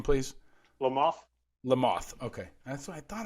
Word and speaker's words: Lamothe: episode with dan lamothe did i say it right lamothe le mans like the bug like the bug there